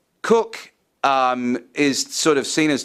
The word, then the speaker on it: Coke: It's also wrapped into this is the ideas of Edward Coke, Cook. It's written Coke, but it's pronounced Cook. Cook is sort of seen